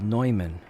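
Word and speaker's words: Neumann: there's a company called nman or Newman however you want to pronounce it NE M Ann and a couple of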